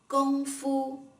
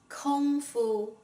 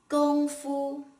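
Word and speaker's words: 功夫: the standard mandarin pinyin here is how you pronounce this word correctly gongfu not kung fu gung is pronounced similar with the word gon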